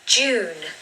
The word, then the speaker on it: June: Now this word needs a really long oo sound. Don't be afraid to say it quite long, so don't rush it. June, June.